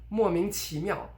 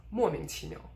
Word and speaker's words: 莫名其妙: point after the idiom, you would stress the first syllable and de-stress the other ones. Or you would stress everything but overstress the first syllable, so really emphasize that. For instance, 莫名其妙.